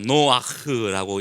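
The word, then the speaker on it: נח: 노아흐. 우리가 잘 아는 노아 할아버지의 이야기가 이번 주간에 말씀을 통해서 우리에게 주어지는 것이고요. 히브리어 글자로는 두 글자입니다. 눈과 크레이트가 들어가서 노아흐라고 읽는 거예요.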